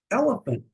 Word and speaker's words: elephant: Elephant, elephant, 3 syllables. Elephant. The second E sounds almost like an A, not quite a silent E.